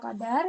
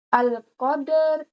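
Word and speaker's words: القدر: Itu contohnya dalam Quran surah Al-Qadar yaitu Alqadar. Nah, qadar. Qadar dibaca langsung ya. Jangan, jangan dibaca Alqadr. Alqadr gitu, tapi langsung al-qadar.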